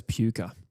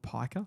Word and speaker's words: Piker: I read that as Puka. Yeah. Unfortunate name. Could be. I've copied the South Australian pronunciation of the games that I've watched where they've gone with Piker.